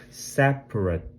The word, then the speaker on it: separate: separate 분리된 요거 발음에 이것도 유해 유의해 주셔야 될게요. separate일 거 같지만 강세가 앞에 있다 보니까 뒤에 있는 요런 발음들은 축약이 돼요. 원래는 rate라고 해야 되는게 맞는데 separate 정도로 축약이 되어서 발음이 납니다.